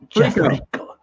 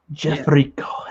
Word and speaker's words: Jeffrico: It's pronounced Jeff? Jeffrico. Jeffrico, exactly.